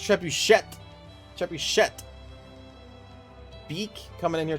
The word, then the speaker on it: trebuchet: It's pronounced trebuchet.